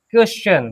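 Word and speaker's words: question: क्योंकि इसमें दूसरा रूल कहता है कि टी आई ओ एन के पहले अगर एस है तो टी का उच्चारण च होगा। बात समझ में आई? अगर टी आई ओ एन के पहले एस है तो इस टी का उच्चारण क्या होगा? श सॉरी च होगा। टी के पहले यहां पे एस है तो हां है तो टी का उच्चारण क्या होगा? च होगा।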